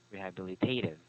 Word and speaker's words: rehabilitative: first long word um just emphasize um the second syllable or not second but uh third one b rehabilitative rehabilitative rehabilitated okay so